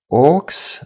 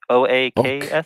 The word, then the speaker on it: oaks: The orcs?